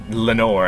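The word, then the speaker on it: Lenore: I mean he definitely picked Lenor as the name because it rhymes with Nevermore and he'd even written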